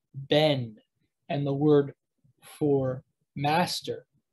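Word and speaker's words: בן: b sound but um when it starts when a a syllable starts with the letter bet it's going to have a harder sound so you have the word for son ben and the word for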